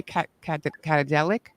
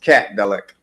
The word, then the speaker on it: Catdelic: How do you say Catadelic? It's just Catdelic. Yeah. Catdelic. Catdelic. Yeah. After the K.